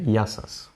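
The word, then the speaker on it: Γεια σας: how to say hello how do you say that you say yasas and sometimes um I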